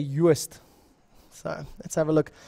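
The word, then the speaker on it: Joost: It's Juist van der Westhuizen. That's how we would pronounce it, at least in Afrikaans.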